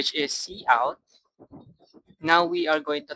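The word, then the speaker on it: cout: C out is pronounced C out, used for output, and it uses the insertion operator, which is this.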